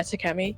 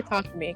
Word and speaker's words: Takemi: Yeah, Takemi. Yeah. Don't say Takumi, because that's actually a different name. That's actually how you pronounce something else.